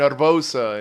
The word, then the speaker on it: Herbosa: You say erbosa or I say arbosa. That's what I said. Yeah, I gotta roll the R is my guy. That's actually how they say it.